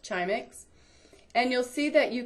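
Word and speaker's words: Grzimek: animal world this is an incredible database called chimex even though it's grz it's pronounced chimic and you'll see that you can look up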